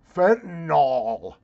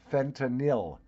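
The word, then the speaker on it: fentanyl: I hate it when broadcast professionals call it fentol it's like armorall it makes your tires look great the word is spelled f n t a n y l it is pronounced pronounced fenil not fentol and these are news Pros that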